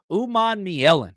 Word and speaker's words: Umanmielen: We got the pronunciation guide down. Umanmielen.